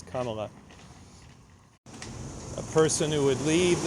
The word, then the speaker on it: Kamala: guessing these people hear the mispronunciation of Kamala as Kamala I am guessing that they hear Kamala the incorrect pronunciation of the vice president and candidate for president and they hear that at a higher frequency than they hear the correct pronunciation which is kala a person who would